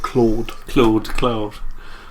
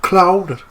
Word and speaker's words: Cloud: I was too busy being pissed off with their mispronunciation of the word Claude. Cloud.